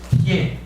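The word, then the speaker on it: 耋: 중국말로 모질도 할 때 모두 마오라고 해요. 질은 티에 이렇게 발음되거든요.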